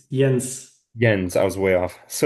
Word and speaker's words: Jens: Is it pronounced Jens or Jens? It's Jens.